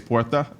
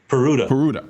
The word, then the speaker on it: Peruta: So now, quickly, tell us about the big California case, Puerta. Am I pronouncing that correctly? Peruta.